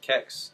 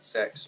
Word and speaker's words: CeX: firstly, the most important question: how do you actually pronounce CeX? Is it CeX? There's three CeX. different ways. It's CeX, CeX, or CeX. It's literally down to the customer's preference.